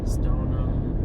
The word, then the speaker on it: Stoneham: that sort of stuff stoneham melrose woodburn so in case you're not from around here now you know how to pronounce those names there's always seems to